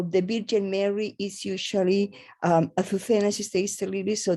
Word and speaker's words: Azucena: How do I pronounce that? Azucena. Azucena.